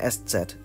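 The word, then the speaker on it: ß: Yeah, that's what it's actually called, an SZ, not a beta.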